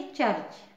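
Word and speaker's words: church: अब fourth rule देखिए जब सी के बाद एच आए तो उसका उच्चारण च क या श होता है ठीक है सी के बाद एच for example C एच यू आर सी एच इसको कैसे पढ़ेंगे चर्च है ना सी एच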